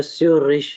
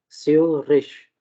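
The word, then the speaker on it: Zürich: अब इसको इसका एक्चुअल प्रोनाउंसिएशन जो है वो स्यूरिश है, स्यूरिश, खा नहीं है, ठीक है, क्योंकि हमने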